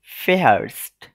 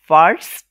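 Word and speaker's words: fährst: Second person সিঙ্গুলারে কি হচ্ছে দু ফেহার্স্ট, দু ফেহার্স্ট, দেখেন দু ফার্স্ট হয়নি, হয়েছে দু ফেহার্স্ট। এটার মূল কারণ হচ্ছে এফ এর পরে যে আটা ছিল সেটা উচ্চারণটা ওই আ umlautএর মতো হচ্ছে এ, এ, দু ফেহার্স্ট, ঠিক আছে?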